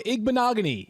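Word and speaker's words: Igbinoghene: trusting him to lead me to the right pronunciation. Noah Igbenogany is confirmed.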